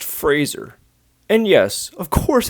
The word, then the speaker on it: Fraser: their Pottery skills Brandon Frazier is that you it's pronounced Fraser and yes of course